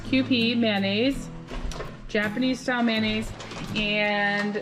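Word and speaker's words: Kewpie: have this q p it says pronounce q p mayonnaise japanese style mayonnaise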